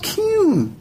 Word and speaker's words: Qun: this again no honey it's called cune q-u-n that's how you pronounce it okay whatever well